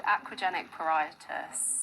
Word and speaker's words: aquagenic pruritus: Well, how do you pronounce it, Nia? It's called aquagenic pruritus.